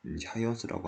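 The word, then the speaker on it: Huygens: 이 읽으면 네덜란드어로 읽으면은 하이언스라고 하는데, 저는 이제 호이겐스라고 읽도록 하겠습니다.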